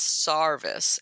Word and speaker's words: Serviceberry: and I've also heard another pronunciation of Serviceberry as sarice s AR um and I just think that is Appalachian accent I would suspect you're